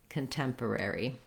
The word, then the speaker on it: contemporary: doing rare is hard so i like to think about it as er air ultimately i have to go in and out of those r sounds uri or airy so you want to practice